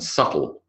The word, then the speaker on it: subtle: The B, not the B, but the B, because this is not sounds, it's letters, in debt, doubt, lamb, crumb, and subtle.